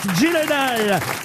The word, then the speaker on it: Gyllenhaal: Et en plus vous le prononcez bien, bravo monsieur, c'est Jake Gyllenhaal qui nous coûte 400 euros.